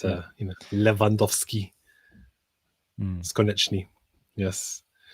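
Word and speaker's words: Lewandowski: You never pronounce the W. It's V. So it's, you know, Leandowski.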